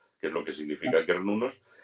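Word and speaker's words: Cernunnos: decir cernudos está mal dicho. ¿Él? Decir cernudo está mal No, dicho. no, se leería cernunos y se lee, o sea, y se pronuncia kernunos, con K.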